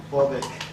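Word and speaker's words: Borbeck: 하인츠 호르스트 다이시만은 아버지 하인리시가 1913년 에센에 인접한 작은 도시 보르벡, 보어벡? 혹시 아는 데 있나? 보어벡이요? 네, 발음, 자, 원어 발음으로 시작. 보아벡.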